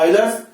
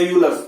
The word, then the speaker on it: Euler: यूलर्स हो या इसको प्रोनाउंस करते हैं आइलर्स या यूलर्स, चॉइस है।